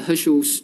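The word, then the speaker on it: Heschl: It's also called the Herschel's gyrus, for some of you, if you're interested. Let me just, okay, so it's spelled as HERSCHL, okay.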